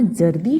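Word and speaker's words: ज़र्दी: बच्चों, क्या आपने यहाँ जर्दी शब्द पर ध्यान दिया है? इसमें ज के नीचे बिंदी है, अर्थात नुक्ता लगा है। नुक्ता वाले वर्णों के उच्चारण में बदलाव आ जाता है।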